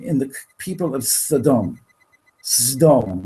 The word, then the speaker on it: Sodom: Sdom, we actually pronounce it.